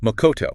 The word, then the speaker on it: Makoto: Makoto, pronounced makoto.